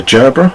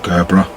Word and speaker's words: Gerber: there i have a gerbra vice or gerber depends how you want to pronounce it um set pliers always